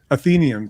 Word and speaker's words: Athenaeum: my God I'm say say again athenium athenium thank you well she wins she's her pronunciation is absolutely correct um I don't know